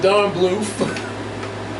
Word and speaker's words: Bluth: Just look at a cob of corn. Which rhymes with Don Bluth.